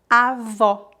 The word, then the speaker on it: avó: E o O aberto pronuncia-se como a letra O na palavra orange em inglês. Orange, avó.